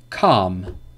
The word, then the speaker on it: calm: So these are examples when the L is not pronounced. But remember, the rule is not pronounced after the vowels A, O, or U.